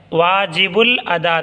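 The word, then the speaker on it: واجب الادا: जो रिया के जिम्मे वाजिब उल अदा था वाजिब उल अलिफ को साइलेंट करके य बा लाम में लगा देंगे वाजिब उल अदा था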